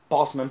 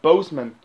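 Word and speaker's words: Boseman: say more time talking about chadwick postman um bossman bozeman sorry i thought i called bossman in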